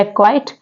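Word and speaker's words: acquire: है वो सी साइलेंट है नेक्स्ट वर्ड है एक्वाइट एक्वाइट में भी सी साइलेंट है एंड नेक्स्ट वर्ड है मसल मसल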